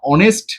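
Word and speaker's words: honest: বসাবো এন বসাবো দেখো হি ইজ দ্যা হ অনেস্ট ম্যান এই যে অনেস্ট এটা কি আমরা হনেস্ট বলি আমরা কি হনেস্ট বলি আমরা তো অনেস্ট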